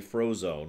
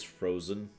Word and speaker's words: Frozen: I mean, I did have one person legitimately try to call me Frozone once. Frozone. When my name was Frozen.